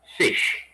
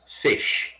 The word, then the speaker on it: ghoti: word can be pronounced fish yeah you heard me right fish you have the gh which is the f sound in words like enough cough you have the o